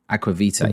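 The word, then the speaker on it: Aqua Vitae: I think if you're really if you're like super into your the detail around whiskey, then Roy, how do you say it? Is it Aquavitae? Aquavitae.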